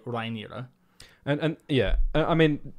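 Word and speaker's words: Rhaenyra: we still disagree because like you say rain I usually say reira yeah um and the proper valan pronunciation I believe would be rira and and yeah I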